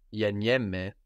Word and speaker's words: γεννιέμαι: So the closed form of γεννιέμαι, I am born, is γεννηθώ. Γεννηθώ. Γεννιέμαι, which is the γάμα e double n I e, which gives us this ye sound, mai, γεννιέμαι, I am born, is actually related to genetics.